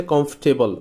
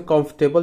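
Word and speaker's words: comfortable: শব্দটাও noun, আর এইটার মূলত adjective ফর্মটা হচ্ছে কমফর্টেবল, উচ্চারণটা হচ্ছে কমফর্টেবল, যেটাকে আমরা কমফোর্টেবল বলি।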